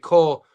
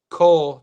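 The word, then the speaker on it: Kao: We pronounce it Cole. I'm probably okay. So, am I pronounced? I'm horrible with names. I do my best. My boy who's in the Discord, he spells it K-A-O, so it's Cole.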